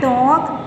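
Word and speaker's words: talk: एल कब silent होगा? एल is often not pronounced, often है अक्सर, हमेशा नहीं। Before L डी एफ एम के, एल डी एफ एम के क्या है उसके बाद बिफोर, उससे पहले ये नहीं बोलेगा। काम, half, टॉक, वॉक, would, should, इनमें देखो कि एल आपका साइलेंट है।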